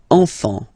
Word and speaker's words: enfant: Same pronunciation here. Enfant. Don't pronounce the T, you don't pronounce the S.